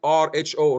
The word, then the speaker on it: rho: Now, next is there is something called rho, and I put it here in my slide, RHO, rho. That's how we pronounce it.